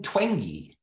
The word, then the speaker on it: Twenge: I would recommend the book by Jean Twenge. If you've read, I think that's how you pronounce her name. It's spelled like Twenge, T-W-E-N-G-E.